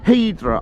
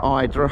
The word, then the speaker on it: Hydra: yeah looking over the town of Idra, Eedra, Hydra however you want to pronounce it and tomorrow we're tempted